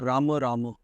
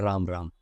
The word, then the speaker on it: Rama: Not Rama Rama No. or not Ram Ram. No, definitely not Ram Ram. It should be Rama Rama. The letters must be pronounced completely.